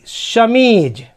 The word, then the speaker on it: chemise: फिर CHEMISE, शमीज।